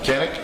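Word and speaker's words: Canik: Is that Canic? Yeah. Canic, okay.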